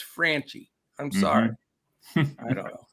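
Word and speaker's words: Franchy: Franchi Cordero, which the announcers were calling him Frenchie, but hey, I know what an A sound is and an E sound, and to me, it's Franchi.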